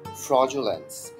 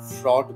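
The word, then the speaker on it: fraudulence: এর পরের ওয়ার্ডটি যদি যাই, ফ্রজুলেন্স। আমরা অনেক সময় ছোটবেলায় বা অনেক সময় হচ্ছে আমরা ফ্রড বলি, আসলে উচ্চারণটা ফ্রড হবে না, ফ্রজ FRAUD ফ্রজুলেন্স ফ্রজুলেন্স একটু বারবার প্র্যাকটিস করবেন, দেখবেন আপনাদের ঠিক হয়ে গিয়েছে।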